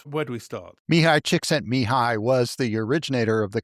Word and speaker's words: Csikszentmihalyi: He asked his graduate students to call him Mike because he knew his name was hard to pronounce. I'll say Csikszentmihalyi, Csikszentmihalyi.